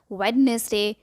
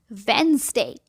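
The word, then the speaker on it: Wednesday: जिसको पूछो आज क्या दिन है, जवाब मिलेगा वेडनेसडे या वेनेसडे। हद होती है, मतलब किसने कहा वेडनेसडे होता है या वेनेसडे होता है? इसका सही प्रोनाउंसिएशन है वेंसडे। फिर से कहेंगे वेंसडे। ये ड्राई फ्रूट मुझे बहुत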